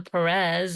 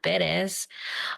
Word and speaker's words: Perez: So when I moved here, I found out I was mispronouncing my name. I wasn't Perez, I was Perez.